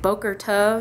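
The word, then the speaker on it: בוקר טוב: Like Boker Tov is supposed to be Bokel Tov or something. I can't say the R at all.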